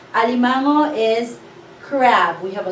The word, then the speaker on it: alimango: So, li-ma-ngo. Alimango. How many syllables? 1, 2, 3, 4. 4-syllable word. Alimango is crab.